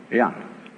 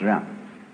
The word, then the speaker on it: Jen: In Confucius philosophy, the fundamental virtue of a human being is called Ren, spelled Jen for reasons best known to Chinese scholars. I don't know what they are, but it's pronounced Ren.